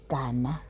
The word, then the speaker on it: Gana: So lona guys, igama lakhe nguVuyokazi Gana okanye nguGana, that's how to pronounce the name.